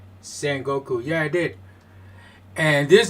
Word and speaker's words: Sengoku: I don't even know if I pronounced it right. Sengoku, yeah, I did.